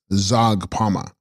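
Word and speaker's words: Zhags pa ma: Text Hagspama, pronounced Zagpama, Sanskrit Pashadari, she holding the noose, the Shakti of Yamantaka.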